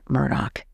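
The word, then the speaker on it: Murdaugh: That name Murdoch, and you do pronounce that gh like a ck, that name Murdoch, it means sea warrior.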